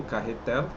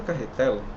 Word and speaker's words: Cahetel: Quando vocês forem pronunciar esse nome Carretel, é com esse L no final, tá? Então tudo que vocês verem assim como e Micael, né? Rafael e Carretel é com esse L no final, tá? Isso é importante. Não é para ser pronunciado carretel, né? Até porque carretel parece carretel, né? Mas não, mas não é carretel, pessoal. É carretel, tá?